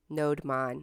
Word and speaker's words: nodemon: If anyone can tell me how to pronounce it, if it's NodeMon or NodeDaemon or any some other variation. So we can just install it globally. NodeMon. Okay, awesome. Thank you.